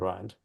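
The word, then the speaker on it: Rhind: is the Papyrus R because the gentleman is called rind and I've been saying it wrong for well over 20 years so oh good oldfashioned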